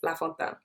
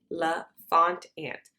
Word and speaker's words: Lafontaine: All my platforms are under Lafontaine. La, L-A, Font, F-O-N-T, Ant. La Font Ant. But it's pronounced La Fontaine.